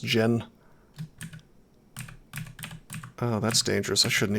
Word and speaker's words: Djinni: think in all seriousness i don't think you're supposed to pronounce the d i think it's just gin oh that's dangerous i